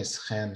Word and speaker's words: schijn: Okay, so in Flemish you separate the S from the CH, right? Yes. If it is written with an S. CH we pronounce it exactly almost exactly the same as a soft G, like G.